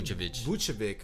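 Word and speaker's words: Vučević: How you pronounce his name? Vucevic. Okay, then. Vucevic.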